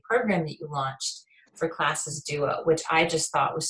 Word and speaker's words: Classes Duo: Well, Classes Duo, that's the way it's pronounced in English. It's spelled CLASSES, duo. In French, it's pronounced class, so it would be like the singular.